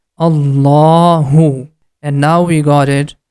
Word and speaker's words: Allah: it we have to make the ah sound in the beginning and it becomes Allah as we got it that in the name of Allah we have to pronounce this La sound with thick sound and also the last sound becomes for two count because of the Hidden small alif this one becomes Allahu and now we got